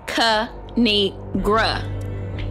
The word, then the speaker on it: KINIGRA: a thing of three is pronounced Ka ni gra now subscribe oh I